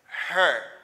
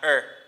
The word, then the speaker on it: her: Because the pronunciation of this is her, not er. Okay? It's not er, it's her.